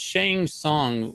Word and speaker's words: Shang Tsung: It's Shang Tsung, like Tsung. I guess the T is silent.